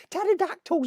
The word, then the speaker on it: pterodactyl: pterodactyl pterodactyl pterodact pterodactyl pterodactyl has a silent p to be fair mine's